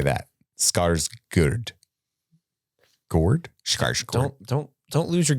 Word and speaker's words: Skarsgård: So the whole ceremony is called Hurga, I believe is how it's pronounced. So that would mean Alexander Skarsgård is how you say that. Skarsgård.